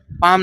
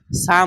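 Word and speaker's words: Psalm: syllable of certain short সাম এটা কি বলতো পাম না এস এল এম ঠিক আছে সাম উচ্চারণ হবে সাম সাম মানে হচ্ছে খ্রিস্টানদের মন্ত্র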